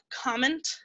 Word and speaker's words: comment: And to ask how they are is comment ça va? So it's spelled like comment, but it's pronounced comment because the French like to drop a lot of their letters for some reason.